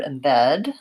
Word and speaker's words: embed: you're noticing is that the stress in this word falls on the second syllable so that first that first vowel sound is an unstressed vowel and so it might sound like embed embed oops this is our